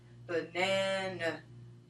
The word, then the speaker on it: banana: In the case of banana, there are two sounds that the letter A can make. One is the stress sound in the word, which is banana, black, and the other is schwa in the first and third syllables.